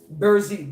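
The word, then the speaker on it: Brzee: And Burzi is B-R, let me not lie to y'all, B-R-Z-E-E. Burzi, Burzi.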